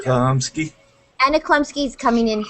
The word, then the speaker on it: Chlumsky: That's how you say it, right? How do you say it? Chlumsky? Chomsky.